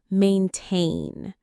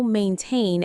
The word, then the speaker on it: maintain: The stress is on the second syllable.